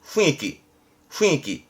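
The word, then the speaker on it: 雰囲気: 발음은 후이끼 해서 이 분자는 이거면 돼요.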